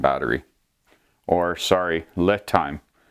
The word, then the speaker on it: LiTime: And I have them in balance right now because I was playing with the LiTime battery, or sorry, LiTime. It's pronounced LiTime, L-I as in little.